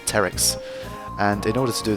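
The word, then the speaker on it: Pteryx: In order to get 99, you need to unlock P-Terix, or if the P is silent, Terix.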